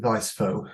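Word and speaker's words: Weis-Fogh: Weiss fo I'm not sure if is it Weisso if I said that right? Well I voice pronounced it viso. We wiso.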